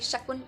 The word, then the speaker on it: शकुन: हां ये वही होता है शायद जैसे बोलते हैं ना कि काश टूटना शगुन ऐसे मतलब शगुन नहीं सॉरी शकुन अपशकुन करके हां मैं